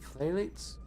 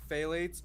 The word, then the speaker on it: phthalates: one phthalates it's probably it's probably phalates but ph is an f and then you have a th right after that so for phthalates well for phthalates are